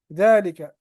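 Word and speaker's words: ذلك: है श कहते अनी जालिका हमने देखा कि ये जा है इसमें अलिफ है मगर वो प्रोनाउंस नहीं किया जाता है जालिका और इसी तरह एक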